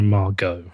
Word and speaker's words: Margot: Yeah, like the T isn't silent for them. But the T is silent for me. You're a Margot.